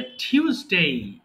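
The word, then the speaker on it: Tuesday: এরপরে টিউসডে। থিউজ ওযে আমাদের যখন বাতি নষ্ট হয়ে যায় কি বলি বাতিটা ফিউজ হয়ে গিয়েছে তাই না ফিউজ থেকে থিউজ বলবা টিউসডে এরপরে ওয়েডনেসডে হবে না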